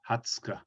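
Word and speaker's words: 二十日: Ju Go Nichi, Ju Roku Nichi, Ju Nana Nichi, Ju Hachi Nichi, Ju Kunichi, and then the 20th is Hatsuka, Hatsuka.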